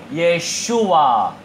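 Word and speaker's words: ישוע: 우리 예수님의 예수는요, 중국에서 건너온 발음이에요. 그 예수님의 원래 히브리식의 이름은요, 따라해볼까요? 예슈와. 네, 예슈와가 예수님의 정확한 이름, 발음이에요.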